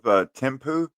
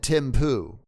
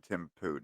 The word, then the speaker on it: Thimphu: I thought you said Tim Poo. Well, it depends on how you pronounce it, but they do have a sewer system in Thimphu now. So I think it's Thimphu, actually.